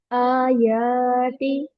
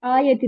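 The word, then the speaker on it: آياتِ: एक को मिसिंग है आयाति ठीक है आयति नहीं होता आयाति आयाति ना ओके तो स्टैंडिंग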